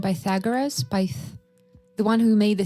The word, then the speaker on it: Pythagoras: Pythagoras? The one who made the theorem. I think you're pronouncing it right. Pythagoras.